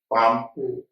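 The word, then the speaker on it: palm: Silk ऐसे ये एल एम पाम, एम से पहले एल है, साइलेंट है।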